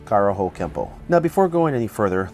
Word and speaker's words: Kempo: with an N but should be pronounced with an M through romanization it is sometimes spelled Kempo but we are at the point where translation errors have created two ways to spell and pronounce the same word Edmund K Parker was